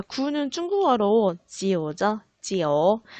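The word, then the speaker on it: 九: 자, 구는 중국어로 지오죠. 지오. 자, 지오는 과연 어떤 단어와 발음이 비슷해서 좋아할까요?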